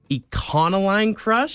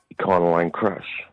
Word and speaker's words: Econoline Crush: At no point did he hard pronounce the O.